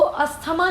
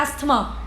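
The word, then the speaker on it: asthma: Usually बोलते हैं अस्थमा, बट उसको अस्थमा नहीं कहते, उसको बोलते हैं एस्थमा, एस्थमा, ये उसका करेक्ट प्रोनाउंसिएशन है।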